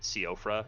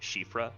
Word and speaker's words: Siofra: Because they've got that weird, like, it's not Siofra, it's Shifra, because it's like a Welsh, I think.